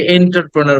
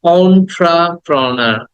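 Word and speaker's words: entrepreneur: অন্ট্রাপ্রোনার অন্ট্রা অন্ট্রাপ্রোনার অন্ট্রা প্রথমে এ বলবো না ইও বলবো না অন্ট্রা অন্ট্রাপ্রোনার অন্ট্রাপ্রোনা দেন দ্যা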